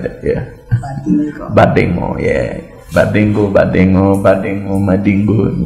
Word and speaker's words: Badingo: We're here with Badingo. She can't pronounce my local name. It's Badingo.